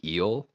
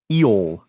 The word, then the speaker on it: Eol: I'm gonna go with it's pronounced eel. It's spelled EOL. Okay. Eol. I'm gonna Eel. overpronounce that O every time. Yeah. Eol. Because otherwise it just sounds like eel.